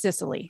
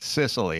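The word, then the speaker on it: Cicely: And just to be clear, I think both of your mean grandmas know that it's pronounced Sicily. Sicily, it is. Yeah, I can hear her. It is Cecily Tyson.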